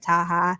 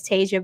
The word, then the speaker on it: Taja: Also, I want to say thank you for pronouncing my name correctly. I often get Taja, Taha. So thank you. But hello, everyone. My name is Taja.